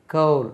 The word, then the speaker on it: coal: அறை COAL நிலக்கரி COAL இதை கோலுக்கு கவுல் அது கோல் கிடையாது நம்ம கோல் தான் சொல்லி பழகியிருக்கோம் கவுல் COAL கவுல் அதே மாதிரி நான் போட்டிருக்கேன்